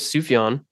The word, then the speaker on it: Sufjan: hated me in high school but it is sufan and he has released nine solo Studio albums